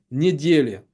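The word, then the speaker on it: недѣля: VOC la résurrection mais en slavon dimanche se prononce en réalité se dit Nedel Nedel a donné en russe le mot nel la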